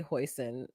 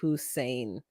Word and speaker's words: hoisin: laugh when you say hoisin that's a sauce we use on duck it's pronounced hussein oh i know it's